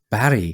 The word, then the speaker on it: Berg: Barry. So it's not a hard G like it would be in English.